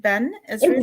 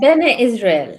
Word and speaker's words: Bene Israel: Am I even saying it right? Ben Israel? It's Bene Israel.